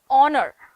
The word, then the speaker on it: honor: in the english spelling because we try to pronounce every single letter for example words like uh words like uh honor words like honest words